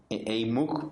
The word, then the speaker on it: EEYMUC: para generar inquietudes, @EEYMUC, yo lo pronuncio EIMUC, pero tal vez en algunos países esa I no es la I latina, sino que es la Y, entonces EEYMUC.